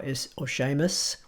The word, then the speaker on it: Seamus: and the Celtic languages, there is no s sound as in s. They all have a tinge of sh to them. You'll hear this when Sean Connery talks, and even the name Sean which is spelled S-E-A-N, or Seamus, which is S-E-A-M-U-S.